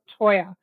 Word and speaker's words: Toyer: Toya. Um, or Toyer if I was to say it how it's spelled.